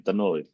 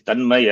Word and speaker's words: Tanmay: people having the name Tanmoy. It is Tanmay actually, but they will say Tanmoy. Like Malayalis will say office. They will not say office. So in Bengali, the pronunciation will be Tonmoy.